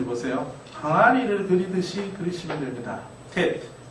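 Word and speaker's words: ט: 태 태 이렇게 항아리를 그리듯이 이렇게 그리시면 되고 우리말 티귿 발음과 같은 발 발 발음이 난다고 보시면 됐. 어떤 분들이 쌍디귿으로 발음하기도 하는데 일단 디귿으로 발음을 하도록 하겠습니다.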